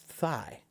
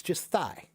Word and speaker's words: thigh: Thigh is just thigh. It's not that hard. Thigh. There's no GH sound in it. It's just thigh.